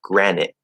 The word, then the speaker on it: granite: Now we know normally we don't enunciate the T. Okay, it's possible if you have a reason to, but normally we don't do that. We're gonna stop it or hold it, and so it become granite.